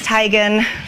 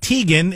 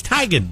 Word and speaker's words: Teigen: tomato kind of thing it is tygan we're all off we're all off so it's not tegan it's not teigen it's tigen yeah is that just